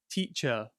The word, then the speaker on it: teacher: This can be commonly seen in British English in ER words, such as teacher, so teach, teacher, player.